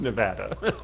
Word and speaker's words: Nevada: prior to the state okay whatever no it's pronounce Nevada you're wrong if you say it any other way incorrect so spirit world is a metal man Carry On from Las Vegas Nevada um you could can I say metal like